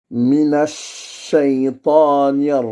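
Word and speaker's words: من الشيطان: Mais attention, juste après, nous avons le CH qui doit être dit deux fois, si on veut. Donc, on dit minash, minash. Après, on a shay, à dire A-Y. Shay. Minash shaytani. Après, c'est ta, ta, ta. C'est-à-dire la voyelle qui est après le T, qui est emphatique. Le T, ta. Et bah, après, on a deux A.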